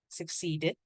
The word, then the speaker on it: succeeded: When we have succeeded, again, a clear ED, succeeded in climbing a step in the, this one.